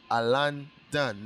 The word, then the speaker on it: Alandon: n d o n one word alan done not a l o because i people always